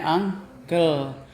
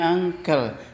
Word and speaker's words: uncle: sister teacher your uncle uncle tulisannya gimana Uncle bacanya angkel jadi UNC bacanya angkel Jadi kalau muncel bacanya